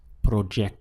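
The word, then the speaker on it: proyecto: in Spanish is proo you can see we have a y in the spelling instead of a j but the pronunciation is proo how would you say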